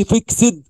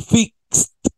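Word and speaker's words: fixed: واند فيكس فيك بص هنا الاي دي كانها تي ما تقولش فيكسد قول فيكست فيكس فيكست فيكس فيكس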